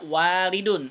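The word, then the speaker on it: والد: Alif atau tidak Halo setelah Wow ada Arif Dadi bacanya walidun artinya ayah tapi kalau enggak ada liftnya waladun artinya anak itu ya Oh ya Iya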